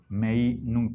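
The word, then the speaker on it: Meinong: En alemán, el diptongo ei se pronuncia ai. Meinung, pero podemos pronunciar como si fuera castellano.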